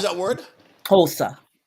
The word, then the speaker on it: Xhosa: Xhosa. Kosa. That's Xhosa. Xosa. Yes. Kosa. Oh, okay. Good. So, but it's a click.